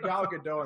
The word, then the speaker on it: Gal Gadot: I tweeted at Gal Gadot and then I got blocked. So I don't. It was weird. So I tried to get her first. So that's how you say her name, Gal Gadot.